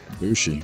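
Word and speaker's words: Bushi: Don't make him angry by mispronouncing his name now. He's gonna hurt you. Bushy, right? How do you say it? Bushy.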